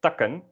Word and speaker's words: takken: Here we have, again, takken, where it is not at the end of a syllable, and therefore it is short, takken, which is branches, or taken,